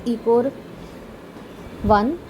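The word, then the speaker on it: EcoRI: So the next number is basically that is it is a Roman number, but when we pronounce we actually pronounce it as ECOR 1, and the 1 is basically a Roman number.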